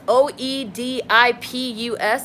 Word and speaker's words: Oedipus: Oedipus, Oedipus, is spelled with an O.